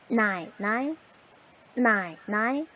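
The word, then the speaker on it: 奶奶: 나이, 나이, 나이, 나이.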